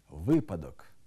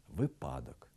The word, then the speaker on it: випадок: порушують наголос у таких словах випадок неправильний наголос випадок новий неправильний наголос новий